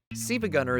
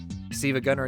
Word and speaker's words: SiIvaGunner: You see, you might have been wondering why I'm pronouncing this word the way I am. It is because that's not a lowercase L, but in fact an uppercase I.